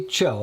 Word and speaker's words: Cho: 8pm detective Matthews Emily Emily Cho am I saying that right Joseph yes rhymes with Crow Joe what is that